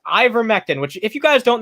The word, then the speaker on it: ivermectin: that administer what's this ivermectin that's how it's pronounced ivermectin which if you guys